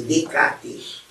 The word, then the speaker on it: Descartes: Descartes se escreve Descartes, mas para falar tem que se descartar os S. Então fala-se Descartes, lá tira os dois S.